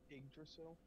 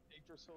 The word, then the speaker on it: Yggdrasil: Yggdrasil is spelled with two Y's at the beginning to make the I sound.